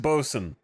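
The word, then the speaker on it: boatswain: n b o s apostrophe n or just bosen how many vows can we get rid of here it's pronounced qualified member of the deck Department it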